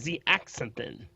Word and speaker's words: zeaxanthin: And the other one is called zeaxanthin.